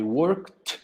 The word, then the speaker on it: worked: Aquí le añadió I worked, ¿dónde trabajó? Worked, work, no vibran las cuerdas vocales, pronunciación con T.